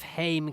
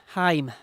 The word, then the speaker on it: Haim: way little bit of Haim coming up hi why do I keep saying it wrong I know better as well Haim better you to you